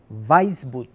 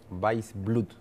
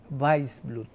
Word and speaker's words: Waissbluth: Te comiste la L, Weissblut, Weissblut.